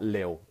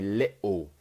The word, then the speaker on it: little: little bit or a little bit, not lil, okay? So we'd say little. So we do that glottal T where it's like coughing in your throat, little, okay?